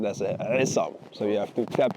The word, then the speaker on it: Aissam: So my full name is Isam and um but in um in Arabic you pronounce it asam.